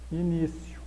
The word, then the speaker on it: início: Todo algoritmo possui um início. De acordo com dúvidas de português, dicionário online de português. Início, com a segunda sílaba acentuada graficamente.